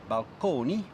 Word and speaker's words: balcony: to describe them so balcony still pronounced at that time in the Italian manner balcone as well as fresco